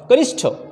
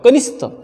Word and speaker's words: कनिष्ठ: इस तरह से त्याच्यानंतर 9वा ग्रुप बघा, कनिष्ठ, कनिष्ठ, कानिष्ठ, कनिष्ठ। तो सही शब्द जो है, सही शब्द का उच्चारण कनिष्ठ, कनिष्ठ, क न में छोटी ई